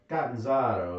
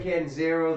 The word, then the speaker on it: Catanzaro: Well, it's like Catanzaro is the Italian pronunciation. But the St. Louis. It's been Americanized as Catanzaro. So anyway, Sam Catanzaro the third, he's brought